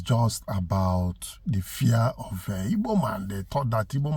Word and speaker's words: Igbo: In that video, he even mentioned that there's a popular saying then that Igbo stand, that then the British call it Igbo, but the real pronunciation is Igbo.